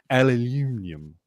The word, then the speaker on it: aluminium: But then immediately I went to my head and thought about how the British pronounce aluminum. And I got so excited that I mispronounced aluminum. Aluminium.